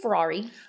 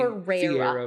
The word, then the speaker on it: Ferreira: I want to say Ferrari, but Ferrari, it's Ferreira.